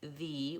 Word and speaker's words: the: office the airplane and we also say thee when we're emphasizing the word so if I'm talking about the best thing I might say the instead of the but the majority of the time when we say the word though we should be using vowel schwa and it should sound like that typically that error is